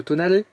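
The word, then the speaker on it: Tonale: avec un alpha romeéo Tonalé il faut prononcer à l'italienne d'ailleurs vous pouvez découvrir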